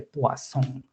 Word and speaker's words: Poisson: extraño escuchar que ellos hacen la pronunciación francesa de Poisson y nosotros decimos Poisson, que es españolizado.